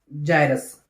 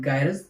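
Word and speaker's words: gyrus: जिसको हम कहते हैं एंगुलर जायरस, ठीक है, और some people called it गायरस, depend upon your own pronunciation. मेरी अंग्रेजी इतनी ठीक नहीं है तो I would like to go with the जायरस।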